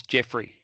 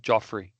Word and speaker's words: Jeffrey: For the record, it's Jeffrey, not Joffrey, even though it's spelled Joffrey.